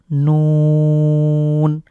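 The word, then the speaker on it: نون: এরপরে হলো নুন।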